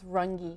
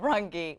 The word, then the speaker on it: Rungi: I have a feeling I'm pronouncing your your name your last name incorrectly am I it's rungi there you go rungi why didn't you tell